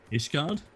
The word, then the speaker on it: Ishgard: We can, How do you pronounce the city in Heaven's Word? Starts with an I. How do you say that? Ishgard?